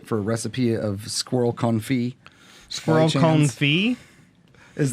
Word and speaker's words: confit: Oh, the it's goosinator confit. and the for it. Yeah, like I'm for it. I think it's a good thing. Confit. Confit. That's how you spell it. Anyway, You don't pronounce the T though.